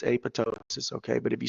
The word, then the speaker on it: apoptosis: a process called apoptosis now it looks like apoptosis but it's apoptosis okay but if you